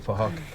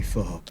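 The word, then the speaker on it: Phuc: Spelled with a PH, so it sounds like for Huck. So it's for Huck. Something like that.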